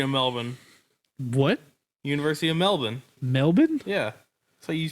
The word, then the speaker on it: Melbourne: University of Melbourne. Melbourne? Yeah. So you pronounce that oh, city.